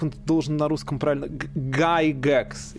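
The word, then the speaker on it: Gygax: Гайгекс. Гайгекс, да. Поскольку я все время вижу его имя в написании, все время, да, я довольно редко слышу, если как оно произносится. Если ты скажешь Гигекс, все тебя поймут. Да, вот.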